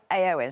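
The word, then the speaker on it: Éowyn: so disruptive on Friday and it's it's actually pronounced storm aoin so we have just a graphic here to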